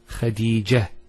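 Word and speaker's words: خديجة: I actually pronounced the ta marbuta as a ha. Medina, Khadija. Now if I stop on the ta marbuta, it's actually pronounced as a ha in both cases.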